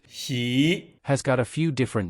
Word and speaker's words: 喜: the Chinese character she pronounced she has got a few